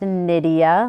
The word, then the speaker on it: Nydia: We're going to say it's pronounced Nydia, like Lydia, but with an N.